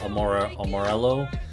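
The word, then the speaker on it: Amarillo: Same thing with uh Amorello, which is a city in in the in the panhandle. It's not like the Spanish word. Uh you do pronounce the the L's.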